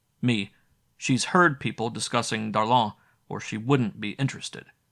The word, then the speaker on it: Darlan: Did she pronounce it right, or like a southerner saying darling?